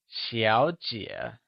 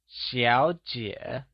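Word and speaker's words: 小姐: Xiǎo and jiě are both pronounced using the falling rising tone, where x carries the sh sound in Xiǎo! Lets hear you say Xiǎojiě , once again, its Xiǎojiě!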